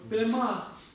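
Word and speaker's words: པདྨ: Пема. Ударение на второе слово. Пема.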